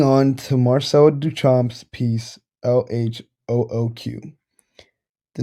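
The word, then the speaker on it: L.H.O.O.Q.: the presentation moving on to marcelo duchamp's piece l-h-o-o-q the name of this piece is a vulgar french pun the the letters pronounced in french sound like translate to english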